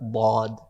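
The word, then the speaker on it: ض: very helpful and the the letter lawd is pronounced from the sides of the tongue so if i were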